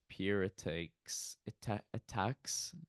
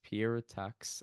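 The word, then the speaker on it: Pierre Étaix: cool um and it's pies attacks I've seen some weird pronunciation of his word of his name but it's Pier attack I think um and it's it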